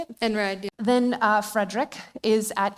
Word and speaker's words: Einride: Einride, yeah.